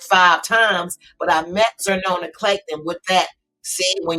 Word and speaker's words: Xernona: if y'all don't know Zerona I'm GNA spell it because people get her name wrong it's XS in xylophone e r n o n a xernona Clayton she is one